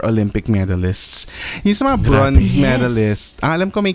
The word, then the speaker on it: bronze: ano yung tamang pronunciation bronze of brones bronze bronze bronze oo hindi siya o ano siya short o siya bronze hindi siya brow hindi siya brow bron hindi siya bron bron palala na ng